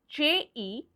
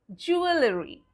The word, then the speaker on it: jewellery: Now, we usually, if we go by the words, we will pronounce it as jewellery. Jewellery. But again, there is a silent letter and it is the E after the double L. So that is not pronounced. So how do we pronounce it? We pronounce it jewellery.